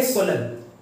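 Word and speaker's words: solemn: इसको क्या पढ़ेंगे, सोलन, एन साइलेंट रहेगा।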